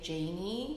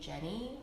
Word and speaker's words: Janie: say my name like she can't say janie she calls me jenny or janie or any form of that except for janie um but she just